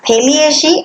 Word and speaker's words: Thaliacea: Subphylum Urochordata divides into 3 classes: class Acidiaceae, class Thaliaceae and class Larvaceae. Further pronunciation is Acidiacea, Thaliacea and Larvaceae.